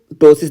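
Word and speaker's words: ptosis: को मिलेगा तो देखिए हमको टसिस देखने को मिलेगा यहां पे पी साइलेंट है ठीक है तो हमको टसिस देखने को मिलेगा तो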